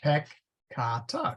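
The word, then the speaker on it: peccata: get a little tricky the second to last syllable has a long vowel in it and some necron the accent is placed on that syllable so pecata is PEC Kata because the that vowel is long if it is short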